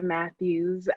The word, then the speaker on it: Mathews: Yes, that's Mathews.